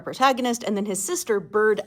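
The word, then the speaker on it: Burd: 2 older brothers, then Childe Rowland, our protagonist, and then his sister, Bird Ellen, which is spelled B-U-R-D, but is probably just an older form of bird, like it's her nickname.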